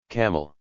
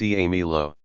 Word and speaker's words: Camillo: "Camel." "Camillo. It's pronounced Camilo.